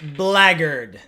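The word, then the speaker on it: Blackguard: we go yeah masked blaggard and yes lagger that is the pronunciation of this word one in black for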